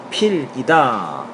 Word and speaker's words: 색연필: 따라서 색연필의 표준 발음은 뭐냐? 위에서 이야기했던 것처럼 생연필이다 라고 말씀드릴 수 있습니다. 자, 색연필의 표준 발음은 생연필인데 이는 색과 연필 사이에, 보세요, 이거 합성어잖아요. 색과 연필 사이에 니은이 첨가되었기 때문이다.